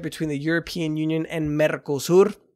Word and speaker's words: Mercosur: In trade news, the gigantic trade agreement between the European Union and Mercosur, roll your R's, guys, Mercosur, that went to...